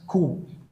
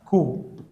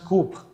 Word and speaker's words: coup: English में एक word आता है स्टूडेंट्स coup. ठीक है, इसका प्रोनाउंसिएशन होगा coup. ठीक है, it should not be spoken as coup, इट हैज टू be spoken as coup.